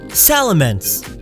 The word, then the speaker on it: Salamence: Salamence, as in immense salamander. It's big, so don't call it Salamence.